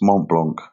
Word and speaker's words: Mont Blanc: I know I'm not pronouncing it correctly, but it's Mont Blanc.